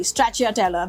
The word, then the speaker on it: Stracciatella: the buffo mozzarella but also Stracciatella Stracciatella sorry Stracciatella that's how it's pronounced I love the Stracciatella cheese because it's